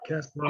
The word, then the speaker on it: Kasparov: Is that how you pronounce it? Yep, Kasparov.